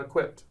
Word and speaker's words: eqpd: So tell me this, how can somebody find out more about Equipped? Well, the easiest way is online or Instagram, Equipped, spelled with 4 letters.